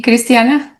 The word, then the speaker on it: Cristiana: Did I pronounce right, Cristiana?